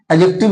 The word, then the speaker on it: adjective: आदि एडजेक्टिव, आदि एडजेक्टिव, वैसे एडजेक्टिव ही पढ़ा जाता है, डी साइलेंट होता है।